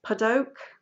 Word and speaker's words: Padauk: and then the shaft is, I can never pronounce this, Padauk, P-A-D-A-U-K.